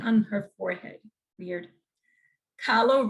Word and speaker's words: Kahlo: Kahlo rhymes with follow.